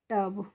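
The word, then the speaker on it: tub: लगाया तब भी तो इसका ई ट्यूब ही होना चाहिए लेकिन इसको हम ट्यूब नहीं पढ़ते हैं इसको हम क्या पढ़ते हैं इसको हम पढ़ते हैं टब तो फ्रेंड्स इंग्लिश में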